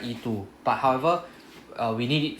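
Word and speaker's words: へ: Then we have one particle え Right, so this is the HE, but we use pronounce as E. Right, first lesson I told you 90% of the time is pronounced as just E.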